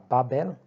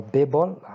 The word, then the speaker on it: Babel: The second thing we are going to install is Babel or Babel, depending on how you pronounce it.